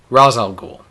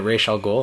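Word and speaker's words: Ra's al Ghul: right so we had Neil Adams on Fatman on Batman Kevin Smith podcast pronounced it Rosal ghoul he was a co-creator to raal ghoul and we said wow what even the co-creator pronounced it wrong like Batman dity series said it Rael ghoul obviously that's the right way Denny O'Neal Who mainly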